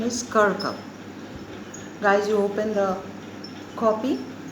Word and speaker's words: Kirkup: no men are foreign by james kerker the pronunciation is kirkham guys you open the copy note down the